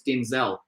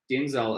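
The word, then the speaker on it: Denzil: her name yeah and she said the name denzel d-e-n-z-i-l and i said no you're saying it wrong it's denzel because i my favorite actor of all time is denzel washington so she she was i said you're saying it wrong you you know it's d d e and z eel she's not look at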